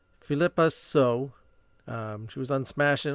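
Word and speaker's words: Phillipa Soo: Philippa So.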